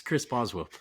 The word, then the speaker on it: Chris Boswell: quarterback how do you say his name it's Chris Boswell Chris Boswell sorry I think I said that